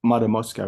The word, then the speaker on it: Matamoska: Did I say it? Matamoska, right? Yes, you said it right, yes.